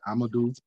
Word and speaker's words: Amadou: Sheikh Amadou. Like Moudou with an am in front of it. Amadou Bamba.